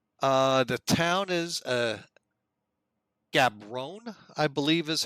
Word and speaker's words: Gaborone: today in Botswana uh the town is a gabrone I believe is how you pronounce this Botswana the capital uh we are